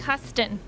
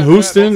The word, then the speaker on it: Huston: Jack Huston. Yeah. We can Huston Houston.